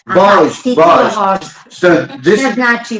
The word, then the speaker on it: vožd: Vožd. Vožd.